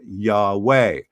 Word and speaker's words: Yahweh: an h a w and an h usually pronounced yahweh this is the name of god or the